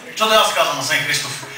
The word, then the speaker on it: Христов: аз се казвам асен христов само че ударението на мене е асен христов той е той е христов аз съм христов шегувам се уважаеми братя